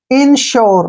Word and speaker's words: insure: यू के बाद जो है RE आया है तो यू का उच्चारण यो करेंगे। ठीक है ना, ऐसे। इसको पढ़ेंगे हम इंश्योर।